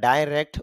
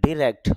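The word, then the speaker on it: direct: ডাইরেক্ট এই উচ্চারণটা ডাইরেক্ট বলতে পারি বা ডিরেক্ট বলতে পারি, উভয়টাই সঠিক।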